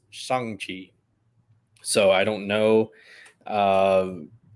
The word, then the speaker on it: Shang-Chi: First off, I found out it's actually pronounced Shang-Chi.